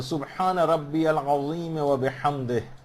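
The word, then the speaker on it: سبحان ربي العظيم وبحمده: سبحان اللہ یا سبحان ربی العظیم وبحمدہ، اس میں ہا جو ہے وہ صحیح نکلنا چاہیے اور جو دیگر حروف ہیں وہ بالکل صحیح نکلنے چاہیے.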